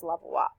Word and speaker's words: Levallois: the technique called the levallois technique it was named in France so it's spelled like this but it's pronounced levallois these points there the